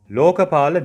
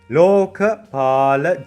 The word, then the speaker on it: Lokapala: From the very north of the Sumeru map, we have the Lokapala Jungle. Lokapala Jungle. You need to drag the lo sound, then ka.